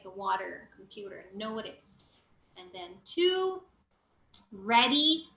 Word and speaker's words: computer: comfortable it's comfortable Okay computer the T is like a rolling te it's not a hard te it's not computer computer like the water all right there and